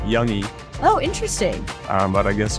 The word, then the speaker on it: Jung: So your last name is J-U-N-G, but it's pronounced Young.